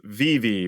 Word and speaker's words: Vivi: Yeah, and I guess I should correct my pronunciation because I believe I was told it's Vivi by the people that actually are fans of the character.